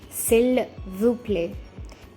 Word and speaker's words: s'il vous plaît: So when you want to say please with respect, you say s'il vous plaît. It's not vous, vous. The S is silent.